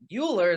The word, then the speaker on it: Uhler: have on Zoom with me right now Jess Euler is that you pronounce it yeah you got it remembered from